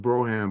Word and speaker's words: Brougham: at the real Broham and it's it's it's it's pronounced Broham, but it's spelled B R O U G H A M.